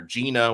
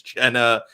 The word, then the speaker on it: Jenna: He called her Gina when her name is Jenna.